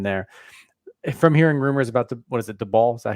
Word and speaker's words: Daboll: From hearing rumors about Daboll? Is that how you say it? Daboll? Daboll.